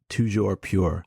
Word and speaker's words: toujours pur: What is the French pronunciation, Micah? We've been waiting. Oh, it's toujours pure.